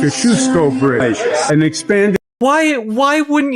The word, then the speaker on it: Kosciuszko: New Kosciuszko Bridge, pronounced Kosciuszko Bridge, and expanded.